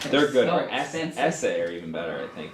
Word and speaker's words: Esse: Essay are even better, I think. The Essays maybe Essay? better. Essay made in Britain. How do you Most the spell that? Essays SESSE. Like Yo Essay, but they they I